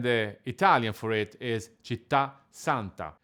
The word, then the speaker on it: Città Santa: Italian for it is Città Santa. Città ends with a stress and it causes the doubling of the next consonant, so the correct pronunciation will be Città Santa.